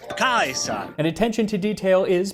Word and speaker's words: Caesar: 1 Century BC Rome which would be with a hard sea so instead of Caesar he pronounces it AUST kaisa and attention to detail